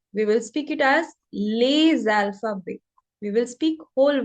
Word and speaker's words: les: The first rule says that we do not pronounce any consonant in the end of any word. Like this is a word les. So we will not pronounce s in the end. We'll say le, not lays.